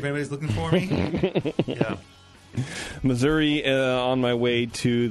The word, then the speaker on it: Missouri: looking for me yeah Missouri uh on my way to the center of the Earth to live with the mole people learn how to say it right though it's Missour all right everybody thanks